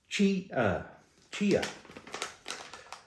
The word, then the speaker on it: chia: The Colonel came in clutch in the comments again and told me the way to pronounce that word. Chia.